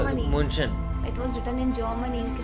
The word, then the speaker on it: München: München. It was written in Germany. You cannot just pronounce that, na?